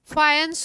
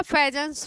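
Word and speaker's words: Fajans: Rule दिया गया है, फायंस रूल या फेजेंस रूल बोलते हैं, है ना। जेड साइलेंट होता है, फायंस रूल बोलना है, लिखा हुआ होता है।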